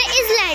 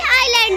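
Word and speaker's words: island: Rule: S is silent before L. हम इसे आइसल नहीं आइल पढ़ेंगे, हम इसे भी आइल पढ़ेंगे. हम इसे इसलैंड नहीं आइलैंड पढ़ेंगे.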